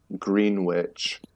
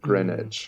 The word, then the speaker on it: Greenwich: I moved to New York City saying Greenwich instead of Greenwich.